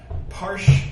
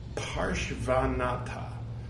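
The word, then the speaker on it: Parshvanatha: Parshvanata. A Porsche is not a van. Parshvanata.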